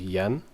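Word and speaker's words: 円: would be five hundred we see n again which is yen but in japanese is actually pronounced n so now we have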